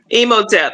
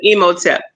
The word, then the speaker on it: Imhotep: Emoteep. It's really emote, but emoteep.